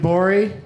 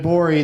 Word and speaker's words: Gborie: me call you David Bowie that the G is silent later like what G